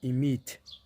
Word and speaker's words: иметь: Pronunciation कुछ इस तरह से होगी, इमीत, इमीत, इमीत।